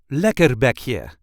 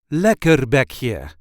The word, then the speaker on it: lekkerbekje: British Fish and Chips this is how we say leer be here leer be here there is a light emphasis on the first part of the word